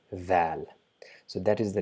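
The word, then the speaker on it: ذال: We just touch our tip of the tongue to our top incisor and try to pronounce z, but we will not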